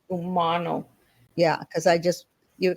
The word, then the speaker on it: Umano: ter one thing sorry my name is pronounced Umano Georgia Umano Umano yeah because I just